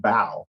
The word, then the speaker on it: bow: Well, it's so cool that even it teaches us how to pronounce it, like bow. It's like, B-O-W. When it talks about the front of the ship, bow.